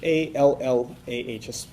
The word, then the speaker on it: Allah: So we call him Allah. His name is Allah. That would be spelled in English A-L-L-A-H, an emphasis on the L, okay, Allah.